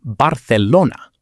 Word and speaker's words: Barcelona: In Spanish, the letter Z and the letter C before E or I always sound like the TH in think, never like an S. Barcelona is Barcelona.